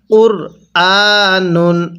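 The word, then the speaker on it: قُرْآنٌ: নুন দুই পেশ নুন কুরআনুন হ্যাঁ কিভাবে শিখবো কুরআনুন আরেকবার আমার সাথে পড়ুন কুরআনুন এরকম ভাবে পড়বো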